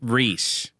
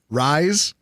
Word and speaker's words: Rhys: a baby, and they named their baby Reese, Rhys. Don't do that. Reese. Rise? Yes. Rise? That's what it sounds like to me. And I'm going to mispronounce, like, if I see that on paper, I'm calling that kid Rise.